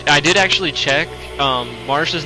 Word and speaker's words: Marcia: um and i i did actually check um marsha's name is actually pronounced like that despite some people saying that it's actually supposed to be pronounced marcia i looked up like the original name um